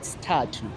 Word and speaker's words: Sthathu: So my my my type of style the way I'm dancing I dance what is called statu. That dance it is within the umbrella. Pronounce it for me. Tattoo.